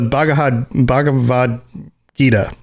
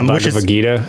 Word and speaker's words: Bhagavad Gita: So Gilgamesh of the Bhagavad Gita, I think is how you pronounce it. Yeah, Bhagavad Gita.